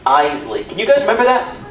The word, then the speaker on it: Iseli: My last name is the tricky part, it's Iseli. Not, not Iseli, Iseli. Two syllables, Iseli.